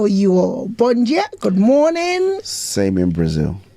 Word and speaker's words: bom: spelled b o m d a Bo it's pronounced Bon how are you all Bon good morning same in Brazil it's same well